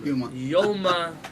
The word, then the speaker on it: Yoma: This is what our rabbis of the Talmud said in Masechet Yoma. Some people pronounce this Gemara as Yuma. Yuma is a place in the United States. In Arizona. Yoma is the Masechet in the Talmud.